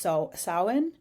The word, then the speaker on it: Samhain: It's spelled Samhin, but it is pronounced Samhain.